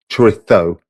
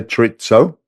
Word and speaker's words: chorizo: And yeah, chorizo, the Spanish pronunciation. If you're elsewhere, you would say chorizo, but you've got to prove that you understand how Madrileños speak, the people of Madrid. You have to lisp it, but it's fucking good anyway.